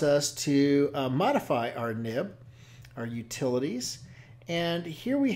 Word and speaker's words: nib: Um, it's always pronounced NIB, Nancy Indigo Bravo, as opposed to X-ray indigo Bravo because that's the way they've always been talked uh been referenced by before they went to XML.